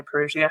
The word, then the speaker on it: parousia: the history, which is called the parousia. That's how we generally pronounce it in Good Shepherd, but I've heard people say parousia.